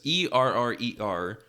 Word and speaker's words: errer: So it seems that me thinking that the French error meant error in English was an error in itself, because E-R-R-E-R pronounced Errer.